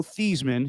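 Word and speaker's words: Theismann: in the day joe thiesman his real name he changed his name to this rhyme with heisman ridiculous he while he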